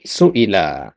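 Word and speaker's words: سُئِلَ: Nabi sallallahu alaihi wasallama suila. Nah, kalau seperti ini bacanya suila ya. Ya, dikarenakan ya harakat ee kasrah itu lebih kuat daripada makanya ditulis dengan ya suilahabballah.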